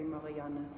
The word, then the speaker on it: Marianne: In German you say Marianne. Oh. You pronounce this E at the end.